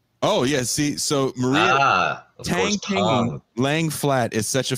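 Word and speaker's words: 躺平: Tang Ping. What did you just call me? Tang. I believe the phenomenon is called Tang Ping. Did he say it right? Chinese speakers? It's Tang Ping.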